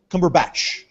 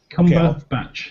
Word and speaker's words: Cumberbatch: Actually, can the British people tell me how you pronounce his name? Cumbucket? Cumbucket? Like, how do you... Cumberbatch? Cumberbatch. Cumberbatch, yes.